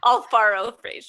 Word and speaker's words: Alfaro Frazier: Alfaro Frazier.